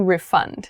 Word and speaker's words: refund: So be careful of the difference in pronunciation between noun and verb form.